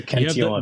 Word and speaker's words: Cantillon: Is that the correct French pronunciation there? As a former French instructor, I would say yes, it's the Cantillon effect. The best pronunciation in the Bitcoin space of that term.